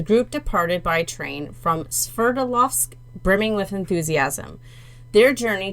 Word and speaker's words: Sverdlovsk: Sverdlovsk. It's you say it the way it's spelled.